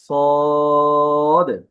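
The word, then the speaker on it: صاد: সে হরফটির নাম হচ্ছে সদ এই হরফটির নাম আচ্ছা এই হরফটির উচ্চারণটা কিভাবে হয়? ইংরেজি সি এর মত উচ্চারণ হয়। তবে আওয়াজটি একটু মোটা হবে।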